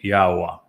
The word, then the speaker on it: Yahowah: Yahwa and we say it Yahwa. And that is because the yod and the he are understood from the way Yahweh introduced his name in the Torah which explains the pronunciation of the law.